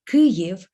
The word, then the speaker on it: Kyiv: make it sound so the word kuryev in ukrainian contains two distinct syllables therefore it also contains two distinct vowels so let's consider those